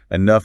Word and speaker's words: enough: We write enough with a GH that sounds like an F.